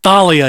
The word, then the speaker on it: Thalia: Jeff, it's pronounced Thalia, you plebeian.